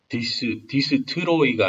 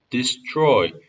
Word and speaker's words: destroy: childhood I will never again destroy 여기도 tr T랑 R이랑 붙었을 때는 chew 발음입니다. t가 아니라 destroy가 아니라 chew에 더 가깝습니다. destroy 음절 두 개예요. destroy 이건 5개인데 이거는 잘못된 방식입니다. destroy 음절 두 개입니다.